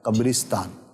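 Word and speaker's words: قبرِستان: را کے نیچے زیر کے ساتھ ہے قبرستان۔ قبرستان، جی ٹھیک ہے، تو را پر پیش نہیں ہے ٹھیک ہے، اور زبر بھی نہیں ہے، تلفظ جو ہے وہ قبرستان یہ درست ہے۔ کیا بات ہے، ماشاء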